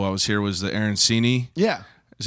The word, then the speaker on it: arancini: never had until I was here was the arancini yeah is how you pronounce it yeah yeah so I don't even